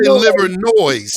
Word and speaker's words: Livernois: uh right off the liver noise that's how you know you're from detroit because because because you you pronounce the s everybody knows livernois but